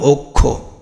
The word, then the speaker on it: অক্ষ: তাহলে আমরা ও, আর এখানে কি? খো, অক্ষ, এটা উচ্চারণ তো অক্ষ, এরকম তো না, এর উচ্চারণ তো অক্ষ, তাই না? তাহলে যার কারণে এখানে কি হয়ে গেল? খ ওকার হয়ে গেল।